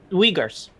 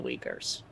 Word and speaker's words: Uyghurs: Just spell it for me. O-Y... or U-Y-G-H-U-R-S. Wait. Hold up, let me... The U-Y... G-H-U-R-S. Uyghurs.